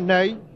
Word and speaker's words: Nenê: le jeune avant-centre brésilien nenê cela s'écrit comme notre maréchal ney mais ça se prononce n'est il pas voici sur votre écran